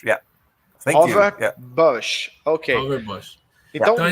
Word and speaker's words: Govert Buijs: Professor Govert, the right pronunciation of your name is Govert Buijs, right? You're mute. Govert Buijs, yeah. Govert Buijs, ok.